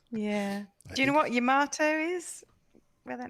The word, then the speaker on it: Yamato: it into a spaceship apparently correct japanese pronunciation also is yamato because they don't really emphasize uh syllables but americans say it is yamato yeah yeah i'd say